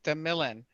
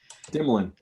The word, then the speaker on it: Demilin: It's Demilin. Dimlin. Demilin. That's how I've been saying. I thought I was saying it wrong. Fresh likes to tease me with the Dimlin.